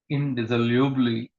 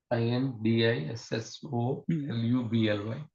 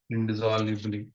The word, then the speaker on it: indissolubly: indissolubly in no that's you're not pronouncing it correctly i n d i s s o l u b l y IND Bally indol indissolubly yeah indol indissolubly interwoven with spiritual and